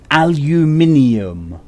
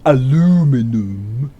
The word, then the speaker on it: aluminium: Lounds wrench jockey there's one matter what aluminium no not aluminum a loom in um no no al you min II ohm just because your country doesn't know how to pronounce things properly doesn't mean even need to infected the rest of us but the album is